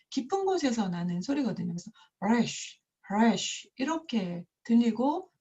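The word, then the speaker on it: ריש: 이 래쉬라는 것이 발음이 좀 독특한데 영어로 하면 R 같고 한국어로 하면 히읗이나 리을을 같이 한 것 같은데요.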